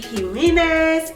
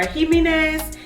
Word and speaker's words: Jimenez: So the next book that I am so excited about, y'all, is Part of Your World by Abby Jimenez, or Jimenez. I think the J is silent.